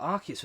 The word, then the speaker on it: Arceus: It's pronounced Arceus.